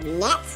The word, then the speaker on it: net: And even though it has an E in the middle of the word, it uses the short E sound. E, not E.